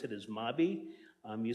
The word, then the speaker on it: MAB: We pronounce it as MABI.